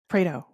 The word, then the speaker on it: Pareto: Prao. Prao.